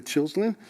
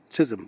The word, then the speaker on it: Chisholm: from a politic you know i remember shirley chilslen she just she was the first how do you pronounce that chisholm thank you she was the first uh african-american